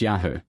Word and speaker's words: Yahu: On the one hand, we may gather from the contemporary Assyrian monuments that it was pronounced Yahoo.